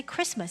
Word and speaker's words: Christmas: Christ of course it's Christmas but we don't pronounce the tea inside you just say Christmas it's a day of Christ and if you